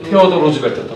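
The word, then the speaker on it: 시어도어 루스벨트: 당시 대통령 테오도 루즈벨트, 시어도 루즈벨트라고도 발음합니다.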